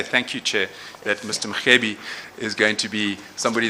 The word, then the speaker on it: Mrwebi: Mrwebi is written Mrwebi, but it is pronounced Mrwebi. So you pronounce that R as a G.